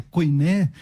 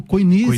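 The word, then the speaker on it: κοινή: A koiné de João, a koiné, né, se a gente usar o grego moderno, o koiné, ou koiné, se usar a pronúncia iotacista, a koiné de João é extremamente fluida, extremamente agradável de ler.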